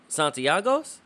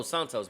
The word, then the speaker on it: Santos: get uh reliever gregory santiagos oh santos my bad i think i butchered your name but greg santos is